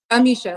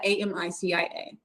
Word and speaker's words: Amisha: Amisha, like Alicia, but Amicia.